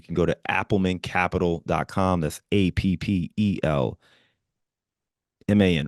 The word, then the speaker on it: Appelman: And then I was like, wait, you just said Appleman. It's gotta be. It's like, all right. Yes. It's Appelman. So not how Correct. you write it in school. Okay. The E comes first.